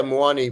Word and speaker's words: Muani: yeah what's your fa how's muani pronounced have we got that right uh yeah muani muani is uh correct I mean there's a slight little bit of an accent when you say in lingala which is where which would be his mother tongue from whoever's parent is from the Congo but is correct I'm just buying time